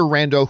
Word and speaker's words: rando: Not from some other rando who now has it. Rando, rhymes with Mando.